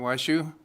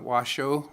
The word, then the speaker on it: Washoe: I am Southern Band Washoe, not Washoe, but Washoe. You could pronounce it the way it's spelled. That's what my grandfather said.